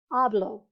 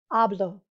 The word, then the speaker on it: hablo: i a e o the emphasis not the accent mark but just the loudest part of the word is going to be on the second to last syllable okay for example hablo notice it's on the